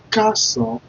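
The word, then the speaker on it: Ẹ káàsán: Ka, then S-A-N, just like you want to spell sank, but let's remove the G at the back of it. Let's now pronounce it S-A-N. San, san, san, san. Join those letters together, I'll be like Carson, Carson, Carson simply means good afternoon.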